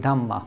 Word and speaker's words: Dhamma: Same word used in Buddhism, slight different different pronunciation, they call it Dhamma, but same word, Dharma.